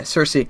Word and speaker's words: Cersei: how do you say it Cersei assessing yeah Cersei I'm gonna just be thinking of Lina Henley